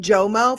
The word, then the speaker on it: JOMO: Is it JMO?